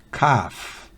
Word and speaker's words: calf: L en la combinación ALF al final de una palabra no se pronuncia. Por ejemplo, calf, que significa ternero.